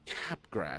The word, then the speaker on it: Capgras: I had mild Capgras syndrome for a 6-month period.